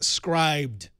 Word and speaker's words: Scribd: scri not scrid right I've been calling it script I've heard SC script D but I think they're wrong so scri okay script my natural inclination would be call it something ridiculous but I assume it's scri see here we go web 94 97 says it's scribed scribed awesome there you go of course it is scribed that makes way more S I know see